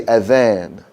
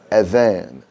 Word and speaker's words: Adhan: That's a soft TH sound, like the word this or that. So we say Adhan, Adhan. Okay? That's right. Tongue between your teeth, Adhan.